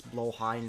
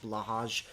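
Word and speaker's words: Blåhaj: It's Blowhigh, not Blahaj.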